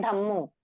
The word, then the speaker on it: धम्मो: word आ गया है धम्मो है ना आधा म और पूरा म है जिनको आता होगा उनको